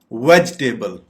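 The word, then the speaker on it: vegetable: वेजिटेबल। वेजिटेबल सब्जियां। वेजिटेबल सब्जी। हम इसके सिलेबल्स देखें तो ये वेजिटेबल। वेज पे जाके आप पॉज लेंगे और फिर बकिया पार्ट आप प्रोनाउंस करेंगे वेजिटेबल।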